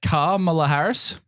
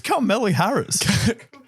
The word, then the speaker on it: Kamala Harris: Not a Kamala Harris. Because it's not a car, obviously. Who's Carmela Harris?